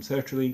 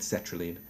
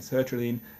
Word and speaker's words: sertraline: in touch to say I've been mispronouncing their name. They're happy for all the good exposure that I'm giving them. They're hoping that they'll get a few more people on them through this YouTube channel. But I've been pronouncing it cetraline.